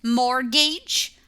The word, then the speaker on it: mortgage: says making a payment mortgage look that we don't pronounce the T Mortgage is in a